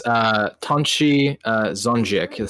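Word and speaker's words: Tonči Zonjić: It's Tonchi Zonjik. See what I mean? It's really hard to pronounce for an American.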